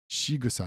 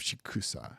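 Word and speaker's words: しぐさ: So it's shigusa instead of shikusa.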